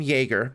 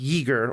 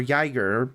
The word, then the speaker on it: Yeager: of them, is well, I want to call him Jaeger because that's how it's spelled, and it's clearly a reference to Jaeger, the American test pilot who was broke the sound barrier and all that. But it's pronounced Yeager or Yiger.